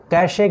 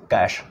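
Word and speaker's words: cache: hidden ख़ज़ाने को भी कैसे के रूप में प्रोनाउंस करते हैं बट उसको पढ़ेंगे कैश कैश memory creature actually उच्चारण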